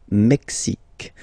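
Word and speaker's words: Mexique: Canada mexic mexic mexic it's really the mexic and then remember this Q it's only mexic okay Brazil Brazil okay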